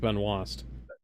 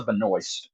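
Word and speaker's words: Benoist: reminds me of Melissa Beno and is that is that how it's pronounced or is it pronounced Ben was because I've always thought it was pronounced Ben was no it no it's Melissa Beno huh B noise is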